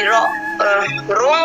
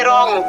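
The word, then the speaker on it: wrong: यहाँ पे देखिए डब्लू आर ओ एन जी, रोंग नहीं पढ़ेंगे, इसको क्या पढ़ेंगे? रॉन्ग पढ़ेंगे।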